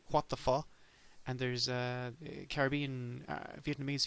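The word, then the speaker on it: phở: And it's especially delightful because it's spelled P-H-O, which you would think is pho, but they pronounce it pho, which is even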